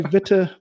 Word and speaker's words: Witte: went with so my last name is fair game it's technically bitter but you know you can whichever way is fine yeah so and so